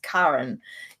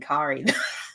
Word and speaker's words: Karen: Well, her name is pronounced Karen in the manga. I kept saying Kari all these years, Karen.